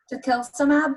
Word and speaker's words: tocilizumab: Collins sobre esta medicina, tocilizumab, what was that, what pronunciation?